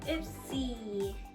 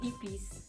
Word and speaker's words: Ipsy: so let's start with ipsy my husband pronounced it the other day as eps remember when i did the prank so he said oh you have epis look at that okay